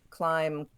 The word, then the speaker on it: climb: another one but the for the most part you have a silent bee when it comes after an M climb comb crumb Dum lamb I want there to